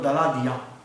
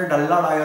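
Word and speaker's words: Daladier: पण दलादिया असं लिहित नाहीत, लिहिताना ते डल्ला डायर असं लिहितात. म्हणजे स्पेल आउट जर मी केलं, जर वाचलं मी इंग्लिशमध्ये स्पेलिंग, तर ते असणार आहे डल्ला डायर. बोलताना बोलायचं दलादिया. तर तसं हे काय मार्से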